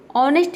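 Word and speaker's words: honest: इसमें जो एच है वह साइलेंट है, इसमें हम एच को प्रोनाउंस नहीं करते। एच का प्रोनाउंसिएशन क्या होता है, ह होता है, एच को हम ह प्रोनाउंस करते हैं, लेकिन यहाँ पे एच साइलेंट है।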